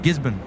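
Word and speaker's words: Gisborne: I said Gizbborne instead of Gizbon.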